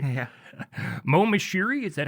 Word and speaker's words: Moshiri: Moshiri, is that how you say it? Yeah, Moshiri.